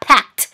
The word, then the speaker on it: packed: get out of there pack นะเติม ed ไปเสียงท้ายจะเป็นเสียงททหารตัว t นะคะ packed นะ so แปลว่าแบบมากเลยนะคะ packed